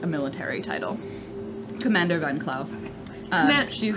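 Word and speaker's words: Van Klauw: You would know her name is Adoa Van Clau.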